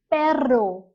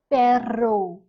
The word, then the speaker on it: perro: It's called a perro. Perro. Can you see how I'm rolling my R? You have to roll your R and say perro.